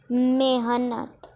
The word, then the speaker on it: मेहनत: Okay, so let's write जितनी मेहनत। Here it is written मेहनत but we will pronounce it मेहनत।